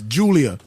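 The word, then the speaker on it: Giulia: pronounced gu oh okay so it's Julia Julia the G assignment right and number one the G isn't silent it's just like giraffe it's not silent number one Ria Ripley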